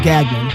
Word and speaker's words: Gagnon: you hug people no Gagnon Dr gagan I said it right okay stress on the first syllable yeah Dr Deadman if